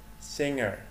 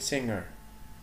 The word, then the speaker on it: singer: referee sailor sailor singer بقول singer singer أكن جي مش ظاهرة أوي فأقول singer skydiver skydiver surgeon teacher